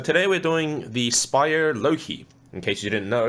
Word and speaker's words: Loque: we're doing the Spire Loki in case you didn't know it's spelled l-o-q-u-e but spider themselves have said that this is pronounced the Loki spyio is a local